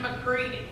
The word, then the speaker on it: McCready: Dixon McCready. Remember him? No, me neither. Jesus. The way he said his own name just tipped me off. Dixon. Dixon McCready. Rhymes with seedy.